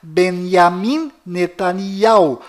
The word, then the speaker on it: Benjamin Netanyahu: bom volta no assunto fora de Israel o nome deste primeiro-ministro é pronunciado Benjamin metaniarro mas dentro de Israel o nome dele é pronunciado benyamin netanyahu confira fora dentro e fora